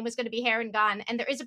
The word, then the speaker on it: Harengon: i heard the actual name was gonna be hair and gone and there is a pronunciation guide in the front of the book